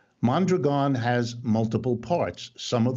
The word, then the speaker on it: Mondragon: that which is by the way how it's pronounced mondragon has multiple parts some of the parts are